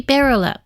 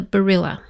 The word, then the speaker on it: Berilla: It might be Berilla, the stem being beryl, but when I looked at other names like that, such as Corolla, the pronunciation changes with the ending, so I have decided to call her Barilla. That doesn't mean this is correct. It just seems to be the pronunciation that most closely follows rules of English.